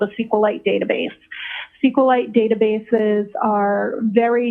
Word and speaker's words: SQLite: It is capital SQL lowercase I t and SQLite uh is also commonly pronounced as SQLite.